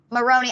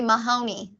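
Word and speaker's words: Moroney: say her name sorry Megan Moroni I always want to say Mahoney oh nope Megan uhuh and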